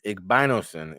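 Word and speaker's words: Igbinosun: And now, uh, Davidson Igbinos, Igbinosen is how you pronounce it, a New Jersey product from Union.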